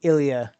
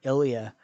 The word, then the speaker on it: Ilya: difficult to pronounce but i know i'm saying ilia correctly which is such an interesting name ilya because technically three of those letters could be valves but the y is acting more as a constant shots